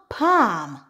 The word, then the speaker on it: palm: If we have the combination ALM, ALF, and ALK, typically the L in the word is silent.